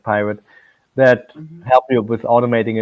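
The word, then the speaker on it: PyRIT: r pirate PY RI T um yeah but pronounced pirate that help you with automating it where the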